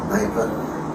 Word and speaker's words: Kneipe: a small pub a Kneipe. I think they use a lot of K-N words. Okay, how do you say it? K-N-E-I-P-E. Okay. Kneipe. So it's really a Kneipe.